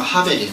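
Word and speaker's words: הֶבֶל: 때 아벨 있죠 아벨이 하입니다 원래 발음이 정확한 발음은 하벨 같은 단어입니다 그니까 하나님께서 가인의 제사는 받으시고 아벨의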